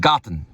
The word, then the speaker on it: Garten: And Rachel's best, Bier and Garten. Garten is how you say it.